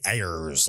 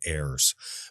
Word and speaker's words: Ayers: His name is spelled Ayers. So when you read it, you want to say Ayers like a frickin' pirate instead of Ayers.